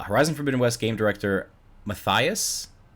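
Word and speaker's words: Mathijs: for midwest game director matthias is how you pronounce it m-a-t-h-i-j-s matthias de young the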